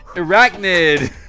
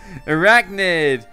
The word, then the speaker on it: Airachnid: This is Airachnid. Sorry. Airachnid. Anyway, I was thinking, like I said, like the R-A-C-H was like Rachel or something, but Airachnid is how you say it.